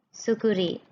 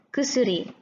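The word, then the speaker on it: 薬: Bacanya apa? Sukuri. Bukan ya, kusuri.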